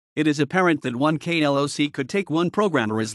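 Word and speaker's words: KLOC: computer programming expression the KL OC or KL OC pronounced K LOC standing for Kela lines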